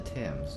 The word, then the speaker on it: Thames: We are close to the Thames, no wonder flooding is such a risk. I always pronounced it as Thames, not Thames.